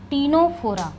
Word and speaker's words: Ctenophora: तो आप देखिए यहां पर टीनोफोरा सी टी ई एन ओ पी एच ओ आर ए यही है स्पेलिंग टीनोफोरा टी फॉर कॉमजेलीज कॉमजेलीज ही तो